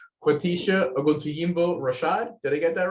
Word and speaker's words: Oguntoyinbo-Rashad: Quatisha Oguntuyimbo Rashad. Did I get that right? Yes. Thank you. Good afternoon, everyone. Yes, I am Quatisha Oguntuyimbo Rashad with the City of Miami Environmental Resources Division within the Building Department.